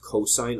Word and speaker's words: cos: ratio moving on cosine abbreviated cos still pronounced cosine of theta is another